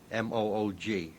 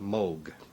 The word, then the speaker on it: Moog: Uh, in Germany, it's a fairly common name and there it's pronounced Moog. In Great Britain, English-speaking countries, uh, people see the double O and they say Moog.